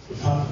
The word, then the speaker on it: Lepanov: Now, he was given the opportunity by his friend Igor Lepanov. Is that the proper way of pronouncing it? Yes. Lepanov. Yeah.